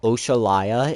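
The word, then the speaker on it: Oxalaia: Chat, I want you to guess how Oshallayia is spelled. Just take a guess. It is not spelled at all like how it sounds.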